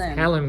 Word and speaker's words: Helen: Helen with an H, by the way, because everyone keeps getting her name wrong. Ellen. No, it's Helen with an H.